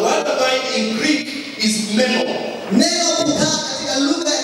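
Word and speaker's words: μένω: my word, the word abide in Greek is meno. Neno kukaa katika lugha ya Kigiriki ni meno. Meno, but it's meno. M-E-N-O. That's how you pronounce it.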